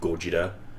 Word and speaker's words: Gojira: Like, just that scene when he says, and Ken Watanabe was adamant that he, as a Japanese man, needs to pronounce it Gojira.